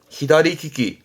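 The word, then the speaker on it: 左利き: 발음은 히다리키키, 히다리키키.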